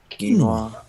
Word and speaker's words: quinoa: well u-u-i-n-o-i-a yep so it's but that's the pronunciation of it quinoa you sent me the recipe for your sauerkraut